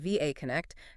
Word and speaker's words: VAConnect: This is where our case study, VAConnect again, that's pronounced VAConnect, comes into the picture.